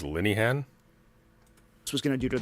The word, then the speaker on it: Linehan: It's Leinhen. You said Leinen. You're saying it's Linehan?